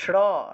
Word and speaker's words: শ্রী: শুধু শ্রী শ্রী বলতেছেন শ্রী উচ্চারণটা হবে স বলেন প্রথমে জোরে স বলেন জোরে যত জোরে পারেন স বলেন স তারপরে দীর্ঘ ইকার শি শি শি বলেন শি জোরে শি বলেন শি